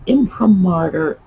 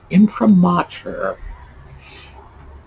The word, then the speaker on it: imprimatur: that weird massachusetts accent so why do i have that picked up on that one word because imprimatur let's see i'm still doing it in promoter is a word used